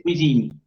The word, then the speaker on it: cuisine: lo hace un nativo, no se escucha esa E. Es cuisine, cuisine, j'aime la cuisine, por ejemplo. Cuisine, hasta la N nomás. Y esa N suena plenamente. Me lo dice la E final.